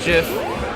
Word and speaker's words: GIF: much for coming out it's pronounced jiff you'll be missed all